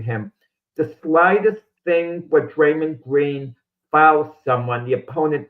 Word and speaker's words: Draymond: Richard is helping you pronounce it, Jack. We have already told you this. It's Draymond.